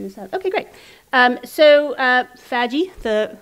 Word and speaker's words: FADGI: My other day job, I'll talk about FADGI in a moment, but my other day job is I author the Sustainability of Digital Formats website for the Library of Congress.